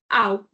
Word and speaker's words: auch: So, also in German is called "auch". "Auch". Because before ch we have "au" or "u", so "kh".